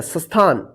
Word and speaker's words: स्थान: सटेशन मत पढ़िए देखिए जब आधा स रहेगा दंत स वाला शुरू में तो उसके बाद जो अक्षर पर जो मात्रा रहता है ना उसी का उच्चारण करते हैं जैसे यहां पर देखिए इसको क्या पढ़ेगा स्थान स्थान नहीं स्थान पढ़ेंगे आद और इसके